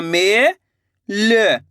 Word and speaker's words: मेल: आपको करने गए लास्ट वाले अक्षर का उच्चारण आधा करना है। क्या करना है? आधा करना है। पूरा नहीं करना। पूरा करोगे तो शब्द गलत हो जाएगा।